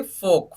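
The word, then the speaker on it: folk: यहाँ पे भी देखो के से पहले का एल जो है उसको साइलेंट कर दिया हमने, सिर्फ क्या प्रोनाउंस किया, एफ ओ के, फोक।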